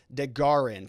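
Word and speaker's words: DeGuerin: just can't see it it's pronounced dagarin thank you for that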